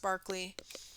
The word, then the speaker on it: Berkeley: at the bottom but he was English so it was pronounced Barkley um and actually that's the Berkeley the Barkley that UC Berkeley is named after um so we're all pronouncing that wrong but um at least